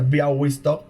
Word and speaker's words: Białystok: Se escribe Białystok, pero se pronuncia Białystok porque la L con esa crucecita se pronuncia como U.